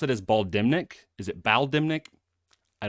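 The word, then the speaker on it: Bal'demnic: is it will the the N you do not pronounce in terms of the audio book uh the way it's bmic Bal yeah you don't say the N okay all right balic and that could be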